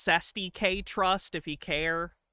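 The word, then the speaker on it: cestui que: There is no reason why this officer It's pronounced Cest K trust if he care. It's not a real thing in this case, so it doesn't matter. But it's pronounced Cesty K.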